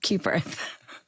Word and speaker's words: Cuthbert: It's like QU. It's cute. Cute birth.